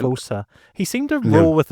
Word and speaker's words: Ramaphosa: Was it Ramamosi? I think it's Ramaphosa, but I'm sure I'm mispronouncing it. Ramaphosa.